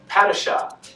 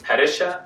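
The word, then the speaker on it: Padishah: or the screenwriters because they made a thing of pronouncing certain words differently than in the 1984 version such as patasha and harkonnen they pronounce i think pedesha and parkanen and those are relatively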